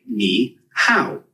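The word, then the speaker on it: 你好: Ni hao is pretty straightforward to pronounce. It sounds like ni hao. Just make sure to keep the ni part high and then go down and pitch on the how.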